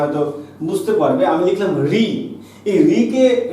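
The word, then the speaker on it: ঋ: মিশ্র স্বর, কারণ না এই রি যখন আমরা উচ্চারণ করি আমরা কিন্তু রি উচ্চারণ করি না, আমরা আসলে উচ্চারণ করি হচ্ছে র যোগ ই, অর্থাৎ আমরা র ব্যঞ্জন ধ্বনির সঙ্গে ই ধ্বনিকে নিয়ে উচ্চারণ করি।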